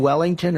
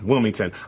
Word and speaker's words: Wilmington: But do you mean Wellington or Wilmington? Wilmington.